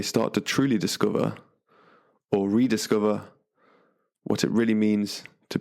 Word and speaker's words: RDSCVR: So it's spelt 6 letters, RDSCVR, pronounced Rediscover.